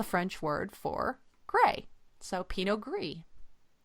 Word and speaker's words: Pinot Gris: s is the French word for gray so Pino gree right and just like greo is Italian for